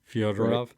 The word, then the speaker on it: Fyodorov: Fyodorov.